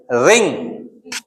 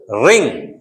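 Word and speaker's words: ring: ओंग, एंग, अंग, इसको क्या पढ़ोगे आप? रिंग। ग नहीं, रिंग। पूरा बाहर मत आने दो, अंदर के अंदर रखो, रिंग।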